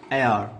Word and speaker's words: heir: यहाँ पर HEIR, यहाँ पर ह नहीं आएगा, एयर, क्योंकि ये साइलेंट रहेगा इसके बाद, एयर, मेयर, रेयर, इस तरह से, रेयर।